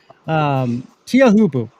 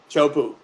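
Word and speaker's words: Teahupo'o: But yeah, it's spelled Teahupu, but it's Tahitian way to say it is Chopu.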